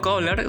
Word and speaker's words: Köhler: Y es que el antropólogo Wolfgang Köhler, o Köhler, se pronuncia así en alemán me parece.